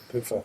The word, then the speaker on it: Puha: it's spelled Puha, but it's Poofer. a Maori name.